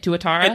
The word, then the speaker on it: tuatara: Is this an acceptable way to pronounce it, by the way? Tuatara? It is an acceptable way to pronounce it. It's not quite the technically correct way to pronounce it, but 99% of people will pronounce it that way, and it is sufficient.